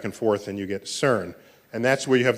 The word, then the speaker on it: CERN: were part of the CERN collaboration so CERN is how you pronounce the word which I think in